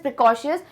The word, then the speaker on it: precocious: This is प्रिकॉशियस, बट वो नहीं जो हम पहले से पढ़ते हैं प्रिकॉशन वाला, प्रिकॉशियस नहीं.